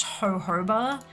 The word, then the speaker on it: jojoba: really good one it's spelt jojoba but it's pronounced jojoba just look it's a thing um jojoba oil